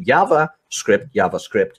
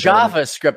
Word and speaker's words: JavaScript: It's JavaScript, not JavaScript. This isn't Mexico. This isn't like jet. Yeah.